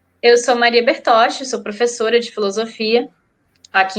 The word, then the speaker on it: Bertoche: Maria já sei que seu nome se pronuncia assim Maria bertoche tá certa correta E obrigado por participar